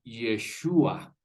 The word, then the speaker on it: Yeshua: En hebreo se lee Yeshua.